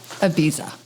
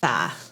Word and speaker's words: Ibiza: Ibiza. It's a TH.